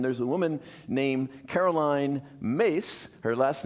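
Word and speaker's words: Myss: And there's a woman named Caroline Mace. Her last name is spelled M Yss. Uh but it's pronounced Mace. M like MC, but it's Caroline Mace.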